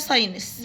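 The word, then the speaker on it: signs: هنا ال ال ال الار سايلنت الار سايلنت فمبنطقش الار كمفورتابلي تطبيقات الهاتف المحمول موبايل ابس موبايل ابس لافتات رقمية ديجيتال ساينس الجي سايلنت مسافرين ترافلرز ترافلرز ترافيلرز حزام الأمان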